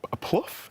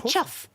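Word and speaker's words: chough: of so we think the first one that Pluff is that how I pronounce it it's actually it's a chuff it is a member of The Crow family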